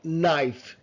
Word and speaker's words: knife: এটাকে বলে খা, বা খা সাউন্ড এর অফ থাকে, যেমন নাইফ, না, ফা, knife.